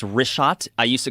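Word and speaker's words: Richat: In the first couple I just want to say it's rishot. I used to call it Rickot. I was mispronouncing it.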